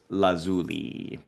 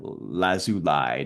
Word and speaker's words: lazuli: this one came out this is lapis lazuli or lazuli depends on where you're from how you say it this is a very